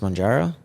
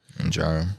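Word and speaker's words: Mounjaro: the other one is I think it's pronounced monjaro monjaro yeah so I know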